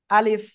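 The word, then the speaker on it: ألف: আমরা উচ্চারণ করব কিভাবে এই যে উপরের দুই দাঁত এই যে আপনাদের দাঁত আছে সবার দাঁত আছে এই যে উপরে দুই দাঁত নিচের এই ঠোঁটে এভাবে লাগবে আর হালকা বাতাস বের হবে আলিফ আলিফ আলিফ আলিফ আলিফ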